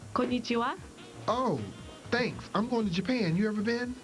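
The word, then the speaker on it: こんにちは: Kanaichi something. It's pronounced konnichiwa.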